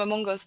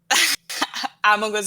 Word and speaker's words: Among Us: It's called pronouncing it properly. I'm going to stream some Amongos. Among you, Catherine. Among Us. It's not difficult.